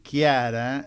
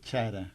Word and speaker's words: Chara: Aparte quiero decir algo, lo educada que es Lía, que le pronuncié mal el apellido, diciéndole Chiara, y ella nada, imperturbable. Es Chara. Es Chara.